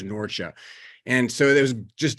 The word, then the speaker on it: Norcia: It's now called Norcia. The modern pronunciation is Norcia.